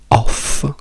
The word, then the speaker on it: of: La preposizione off con 2 F rimane off, mentre la preposizione of, che si scrive con una F ma si pronuncia con una V, che vuol dire di,